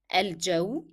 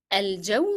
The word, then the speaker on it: الجو: So here in الجو we pronounce the sound of lim because it is carrying that sukun, which is a tiny circle above the letter, and then it is not followed by a shadda letter.